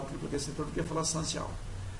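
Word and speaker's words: San Jiao: que eles chamam de Sanchal. Sanchal. Eu nem sei se eu pronunciei correto, tá? Porque escreve San, S-A-N, Jiao. Só que o J tem som de T na China.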